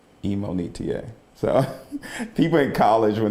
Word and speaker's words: Imonitie: it's my fault but the correct way to say my name is emonita so people in college